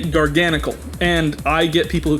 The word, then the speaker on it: Garganacl: No, the proper pronunciation is Garganacle. But I say Garganicle.